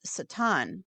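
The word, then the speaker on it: שטן: I believe it's actually pronounced Satan.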